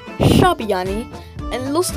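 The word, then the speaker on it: ށ: Next one is Shabiani, which makes a retroflex S sound, which is pronounced at the top of the mouth rather at the teeth. Sha, like a sha, and it looks like a shooting star.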